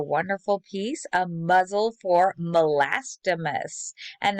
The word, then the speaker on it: Melastomus: muzzle for molastimus and that is how you pronounce that name uh melastomas you can see two root words there mela meaning dark um or yeah like a dark color and stomas meaning mouth so um a muzzle